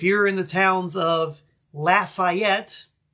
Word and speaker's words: Lafayette: in the towns of Lafayette and that is the way they pronounce it in Louisiana Lafayette sheveport Austin or